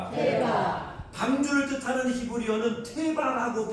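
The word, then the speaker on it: תֵּבָה: 우리가 방주를 뜻하는 히브리어는 이렇게 발음합니다. 한번 따라합시다. 태바. 태바. 다시 한번 태바. 태바.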